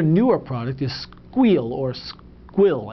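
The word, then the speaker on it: Sguil: product is squeal or squill it's pronounced squeal it's spelled SQ s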